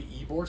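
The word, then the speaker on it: Ybor: your listeners are ever in Tampa go to ebore City it's spelled YB o r but it's pronounced eore City and it's like Bourbon Street in New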